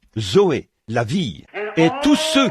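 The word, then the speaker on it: ζωή: on se sert du même mot que l'on prononce, Zoé. Z O E. Zoé, la vie.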